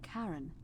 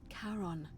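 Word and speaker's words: Charon: it's just as you described it only your pronunciation is a little off the name you heard wasn't karen it was c-h-a-r-o-n as in caron the ferryman of the dead that's the ferryman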